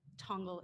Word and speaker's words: Tongal: James DeJulio, who is the president and founder of Tongal Inc. Am I pronouncing that right?